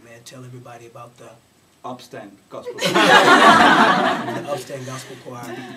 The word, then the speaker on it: Upstand: now how do you say that in Danish upand gospel and so and so what happened was